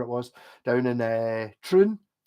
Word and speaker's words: Troon: was down in a Troon which you have to pronounce like your ice cream with a spoon all right it's like spoon prune uh I need Bucky